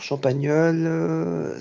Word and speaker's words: Champagnole: s'écrit Champagnole avec un L seulement. Alors, Champagnole, c'est Champagnole.